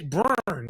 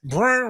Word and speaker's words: Bjorn: But it's like the B with the apostrophe to J. Burn. You got to say it like Bjorn Werner.